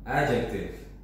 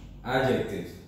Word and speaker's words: adjective: Pronunciation-nya itu ya, adjective. Enggak, D-nya enggak terlalu dibaca. Jadi langsung adjective.